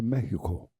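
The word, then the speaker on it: México: You don't say, if you go to Mexico, they don't say Mexico. They say Mexico.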